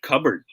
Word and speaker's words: cupboard: are correct here is the proper way to say this one yan cupboard we don't pronounce the p okay except cover if